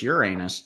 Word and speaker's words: Uranus: It's not my anus, it's Uranus. I didn't say anus. I said Uranus. You have to learn to spell it, and then the joke goes away.